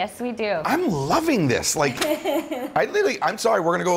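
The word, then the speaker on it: Laich: Yeah, Instagram across all socials at Brooks Like. Okay, but spell like some of them. My last name is pronounced like L-I-K-E, but spelled L-A-I-C-H.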